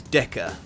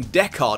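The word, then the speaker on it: Decker: another disappointing change is DECA who I've just realized I've been calling deard until now due to my usual idiotic inability to remember or pronounce names right sorry guys this guy's name is DECA and he is disappointing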